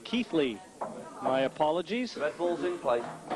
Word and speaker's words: Keighley: table now for the Keighley cue boy well I've just been told I've been mispronouncing Chris melling's hometown Keithley my apologies that Bulls